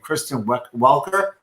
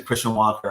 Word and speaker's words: Kristen Welker: hosting the last debate is named Kristen Welker and I it's just everyone was pronouncing Christian Walker on TV freaking me out they were list this slightly gently mispronouncing with like a Canadian accent it sounds like Christian Walker that's hilarious that's fantastic